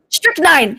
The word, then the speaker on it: strychnine: They've been poisoned by oh gosh, how do I pronounce that? Strychnine. Strychnine. White. Strychnine.